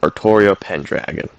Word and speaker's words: Artoria Pendragon: a surprising amount of times but canonically it's pronounced artoria pendragon the basis for lore is rather similar to